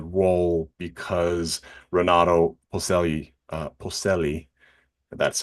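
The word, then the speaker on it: Polselli: was given the role because ronado Peli uh Peli that's how you say it ronado Peli uh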